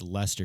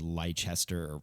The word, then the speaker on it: Leicester: in england that's also it's leicester city and it's spelled the same way and i thought it was lychester because english people pronounce